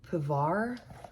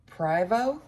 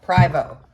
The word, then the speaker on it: Privo: shoe the brand is pavar wait I'm saying it wrong privo privo the brand is privo I was just doing